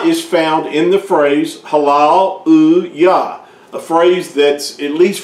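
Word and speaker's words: Hallelujah: old or older, and that phrase Halal U Yah is pronounced the same in any language throughout the whole world. They do not pronounce it any other way but a halal uya. Now they may spell it with a J, but they still pronounce it halal uya.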